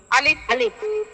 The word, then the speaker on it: আলিফ: আলিফ যখন আমরা উচ্চারণ করব এই আলিফে কোন ধরনের টান থাকবে না। একেবারে ক্লিনভাবে উচ্চারণ করতে হবে এবং এইটার মধ্যে আপনার কোন ধরনের কি বলে টান দেওয়া অথবা অপরিষ্কার এই জাতীয় কিছুই থাকবে না। একেবারে নিখুত হবে এবং উচ্চারণটা খুব কাটা কাটা হবে। পরিষ্কার হবে।